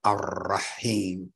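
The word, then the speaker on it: الرحيم: So we wouldn't just say R like we do in English. We'd say R, Ar-Rahman, Ar-Rahim, that trill, because the tongue is touching the top palate, but it's reverberating.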